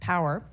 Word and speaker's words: PWR: The Priorities for Weather Research, or PWR, pronounced POWER, report is a compilation of expert recommendations from across the U.S.